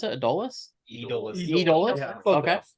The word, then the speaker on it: Edolus: That's how you pronounce it? Edolus?